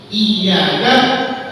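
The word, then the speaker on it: إِيَّاكَ: Iyyaka harus dijelaskan tasdidnya iyyaka karena di sini dua bukan satu, jadi yang benar iya bukan iya.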